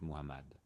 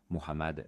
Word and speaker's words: Mohammad: Remarquez que le nom du prophète Mohammad doit être prononcé correctement, sinon le témoignage n'est pas valide. La lettre H dans ce nom doit être prononcée de manière douce avec souffle.